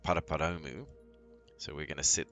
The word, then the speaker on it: Paraparaumu: to fly from npp which is pronounced paraparoumu so we're going to